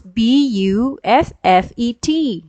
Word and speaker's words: buffet: So I will say, how do you pronounce Buffet? How do you pronounce Buffet? So the teacher would say, all right, Buffet is pronounced as buffet.